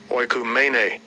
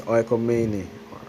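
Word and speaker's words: οἰκουμένη: So this word world, it's Greek, and it's pronounced Strong's G 3625. Oikumene. Oikumene. So it says oikomene or oikomini, you know, and it says the inhabited earth.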